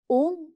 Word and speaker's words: ओम: ठीक है, ओम जो उच्चारण है उसमें जिह्वा का प्रयोग नहीं होता है, वी डोंट यूज टंग, तो ओम को बोलते हैं निराकार।